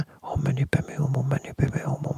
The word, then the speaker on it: Om Mani Padme Hum: prononcer comme ça, mais Padmé, là, c'est la princesse dans Star Wars. C'est pas la même chose. Ça se prononce Om Mani Padme Hum.